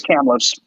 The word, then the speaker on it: Kamloops: and the seattle thunderbirds i keep wanting to uh pronounce kamloops wrong but anyway it's kamloops yes hamlet's kamloops um little uh a